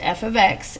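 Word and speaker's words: f(x): It's pronounced f ofx and it is the same thing as y. It just replaces the y in an equation. So instead of y, we'd put f ofx.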